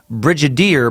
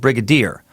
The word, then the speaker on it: brigadier: as in Brigadier General you pronounced with a hard G as you're saying Brigadier but it's with a soft key like brigadiere Brigadier General I only